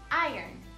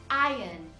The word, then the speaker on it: iron: Mas quando você junta elas, fica iron, iron, iron, iron. Já no inglês britânico, iron, iron. O R, de novo, é suavizado e quase não é pronunciado.